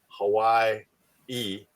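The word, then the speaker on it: Hawaiʻi: The first one is combined with the a so it's Hawaii e but you put a little you know apostrophe in there you pronounce every yeah so I had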